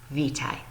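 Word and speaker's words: Witaj: pronounce it if you look right here they pronounce this word VI so to say hello and polish you say vitae alright and then if you look at their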